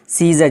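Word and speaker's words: scissors: पर क्या हो जाएगा सी साइलेंट होकर क्या हो जाएगा सीजर जिसका माना होता है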